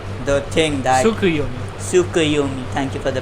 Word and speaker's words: Tsukuyomi: Alright, and then Infinite Tsuyomi, the thing that Tsukuyomi, thank you for the pronunciation correction.